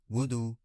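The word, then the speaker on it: wudu: उजू उजू उर्दू meaning वजू वजू pronunciation वूद grammatical category noun English sentence you should perform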